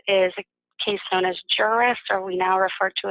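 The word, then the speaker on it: Juras: An important piece of case law to be familiar with is a case known as Juris, or we now refer to it as the Juris Rule. It's spelled J-U-R-A-S, and it's codified in 55 PA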